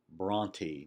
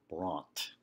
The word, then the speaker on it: Brontë: wondered about was Charlotte Bronte the Bronte family spelled that final E with a diaeresis to show that the letter is not a typical silent e that it's pronounced Bronte not brought there's a kind of